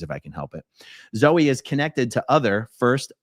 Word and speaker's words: Zoey: the name it says Zoey Perez pronounced Zoe is a transgender who